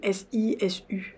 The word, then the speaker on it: sisu: copine, elle est amie elle, qui est le Sisu, qui est véritablement, ça s'écrit S-I-S-U, je crois.